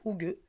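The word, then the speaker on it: Hygge: Donc, ça s'écrit Hig, mais ça se prononce Hougue.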